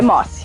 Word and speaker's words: Mossi: Eu sempre pronunciei errado, mas tá bom. Mossi. Como é que tu pronunciava? Eu pensava que era Mossi. Tem gente que fala Mossi, falam de várias formas, mas é Mossi, Mossi.